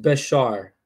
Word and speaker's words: Bashar: So my name is pronounced Bashar Cat2.